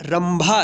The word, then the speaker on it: रंभा: र के ऊपर बिंदी है तो रम भा, रंभा। यहाँ पे भी आधा म के रूप में उच्चारण हुआ है।